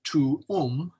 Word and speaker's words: tuum: So tuum, thy, is pronounced tuum, not like tomb or some single syllable word.